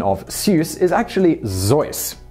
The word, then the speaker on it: Seuss: The proper pronunciation of Seuss is actually Zeus. This is because it's originally a Bavarian name. However, given the fact that most Americans incorrectly pronounce it as Seuss, Theodore Geisel ultimately gave